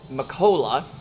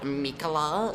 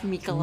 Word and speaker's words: Mikola: Uh, Niko Makola.